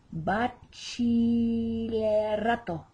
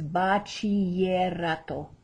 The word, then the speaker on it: bachillerato: It's bachillerato. Juliana just made a big error. The CH is the ch, and the double L is the ya. So it's bachillerato.